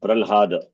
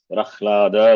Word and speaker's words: Prahlada: Not Pralhada. Prahlada only should be pronounced.